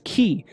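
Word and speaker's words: χ: And of course, ki is also the 22nd letter of the ancient Greek alphabet, pronounced as ki, and it literally means to mark with an X.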